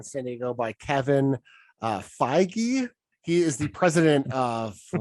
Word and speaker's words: Feige: pronounce it right and it says uh f y g e g h e so phi gee uh but it's kevin